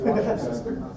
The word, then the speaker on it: Worcestershire: I told my daughter that it's pronounced Worcestershire.